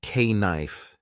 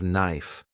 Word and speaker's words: knife: People laughed when I said k knife instead of knife.